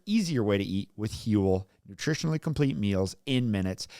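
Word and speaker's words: Huel: give you a complete nutritionally balanced meal and hule which is spelled hu L is the world's leading Complete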